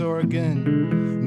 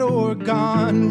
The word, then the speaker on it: Oregon: Orleans not New Orleans Oregon not orgon reer not reneer this